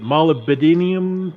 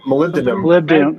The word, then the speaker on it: molybdenum: oh i know i don't know how to pronounce it molybdenium molybdenum molybdenum molybdenum those those are those are great